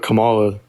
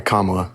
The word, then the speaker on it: Kamala: I don't really I don't really like what Kamala stands for oh sorry kamla sorry about that say that one time I